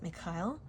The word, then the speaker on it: Michael: Archangel Michael, or as I pronounce it, Mikhail, is very strongly coming through with the Ace of Swords.